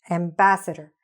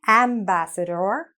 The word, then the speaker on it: ambassador: Ambassador. And it doesn't matter that here it was being spelt with an A. The actual sound isn't ambassador.